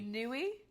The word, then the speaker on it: Nui: cookie muy muy muy because it rhymes with gooey Nui this is actually really